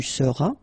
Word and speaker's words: seras: All right, then tu seras, final S not pronounced, tu seras.